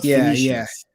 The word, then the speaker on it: Phoenicians: It was hard to pronounce, but Phoenicians.